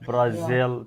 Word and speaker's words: Brazil: word how many syllables like Brazil two syllables where is this uh the second syllable now in a sentence